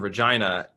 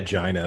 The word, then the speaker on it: Regina: Regina, but it is like... It is Regina fundamentally, but they say it Regina. It's unnecessarily provocative in the way they pronounce it.